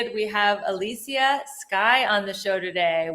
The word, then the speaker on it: Elysia: Am I Your name is Alisia. Am I saying it right? Yes, you sure are, honey.